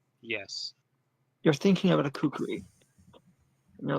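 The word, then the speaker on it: kukri: it this way, but I do have a kukuri. Is that how you pronounce it? Yeah, kukuri.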